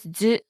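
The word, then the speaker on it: づ: It's actually pronounced as zu. It's similar to su with a dakten.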